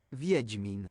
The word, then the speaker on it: Wiedźmin: Okay, that is not how I thought that would be pronounced. Wiedźmin.